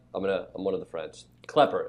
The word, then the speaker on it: Klepper: Klepper is how it's pronounced.